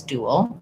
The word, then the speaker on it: dual: The IPA is going to be first syllable stress. Dual. I guess it does actually have two syllables, come to think of it. So you won't see that W glide in the dictionary in the symbols because it just happens when I move from the rounded oo shape to the unrounded ul shape.